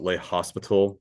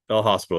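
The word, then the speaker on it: L'Hôpital: So this is called and some people kind of call it le hospital but it's French. The s is silent less. So it's your hospital. El hospital.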